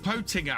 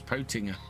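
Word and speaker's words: Pöttinger: I've always I was told by uh when I was doing the FSL that it was Potinger, but I think everybody in the UK calls it Pottinger. Maybe that's just how the Germans pronounce it.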